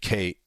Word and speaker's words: Kat: He bonds with a girl named Kate. Actually, it's Kat. It's spelled Kate, but it's Kat.